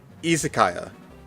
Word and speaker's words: izakaya: Izakaya. Like an isekaya. Isekaya. The letter I is pronounced E.